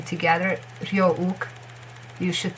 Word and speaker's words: Ryeowook: It's not wook. It's ook. Ryeowook. Nothing. Ook. Ook. Ryeowook.